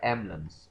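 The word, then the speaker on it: emblems: ई एस अह एमएस यह जो एमबी का कॉम्बिनेशन है इसमें एक साउंड को तीन अब आप देखेंगे यहां पे एम बी एल साइलेंट तीन कंसोनेंट्स इकट्ठे हो रहे हैं तो इनमें से हम एक ड्रॉप करेंगे ये होगा एमलम्स एमलम्स नॉन वर्बल सिग्नल्स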